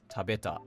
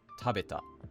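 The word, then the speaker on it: 食べた: Taberu doesn't turn into tabeta. It turns into tabeta.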